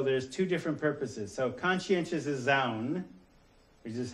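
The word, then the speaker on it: conscientização: So conscientious Zaun, which is how you pronounce that, okay, learning to perceive social, political, and economic contradictions and take action against the oppressive elements of reality.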